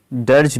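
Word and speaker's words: dirge: next जो होगा वह है हमारा नंबर 59 डर्ज मींस इसको प्रोनाउंस करते हैं डर्ज डर्ज मींस क्या होता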